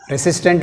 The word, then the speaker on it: resistant: Resistant, resistant. Resistant లో resistant second part, second syllable. Re is weak prefix.